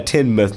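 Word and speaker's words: Tynemouth: a ten-mile tendinous note yeah 10 myths not Tim mal that was such an American Way of pronouncing that but in that case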